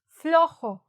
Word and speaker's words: flojo: Flojo. Escribe flojo, no flojo. Flojo. So, esta jo es como jo. Así, ¿no? H-O. Jo. ¿No? Jo. Flo. Y luego jo.